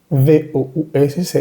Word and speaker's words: vous: V-O-U-S es vous. Esa última S no se pronuncia.